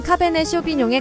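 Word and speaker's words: Cabernet Sauvignon: 아주 잘 지어진 이름입니다 영어 발음은 카베네 쇼빈에 가깝고 스페인에서는 까베르네 쇼비뇽 가깝습니다 그리고 베르의 쇼비뇽 반대되는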